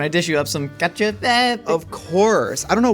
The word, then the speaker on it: cacio e pepe: I don't think that's how you pronounce it. I think it's cacio e pepe.